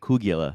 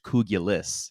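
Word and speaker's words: kugelis: Uh we we've been calling it Kougula this entire time, but we looked it up last night and it looks like it's pronounced like it's spelled like it's pronounced kouguliss.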